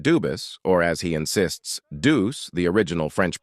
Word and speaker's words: Dubus: Dubus is the original French.